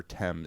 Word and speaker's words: Thames: Between Oxford and Cambridge along the river Temps. It's spelled thames.